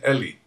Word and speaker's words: Eli: say that right right Eli that's how Americans pronounce my name but I pronounce it Ellie Ellie okay okay Professor